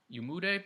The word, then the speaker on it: Umude: Stanley Umude, I think Umude is the way you say his name.